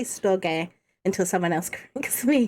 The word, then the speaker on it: storge: wrong but it's as i want to say storage but it's not it's a storge uh familiar love love